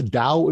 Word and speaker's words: Dao: book okay it's called the dao of vigor some people might pronounce that tao um uh it's got